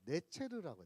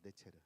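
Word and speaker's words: נֵצֶר: 한 가지라고 하는 그 단어가 히브리어가 어떤 발음을 갖고 있냐면요. 네체르라고. 네체르. 나사렛하고 내체 나사렛은 나짜렛이라고 그러고 가지란 뜻이 내체.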